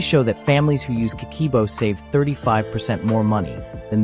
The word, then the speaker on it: Kakeibo: The Japanese have a method called Kakeibo, pronounced Kakeibo, used for over 100 years.